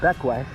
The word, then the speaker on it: Bequia: So we're here in Bequia, spelled Bequia, pronounced Bequia.